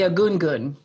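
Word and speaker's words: Egungun: If folks would like to ask anything else, there's also I'm sorry, will you say again how to pronounce the Yoruba? The Yoruba pieces? Yeah, the Agungun.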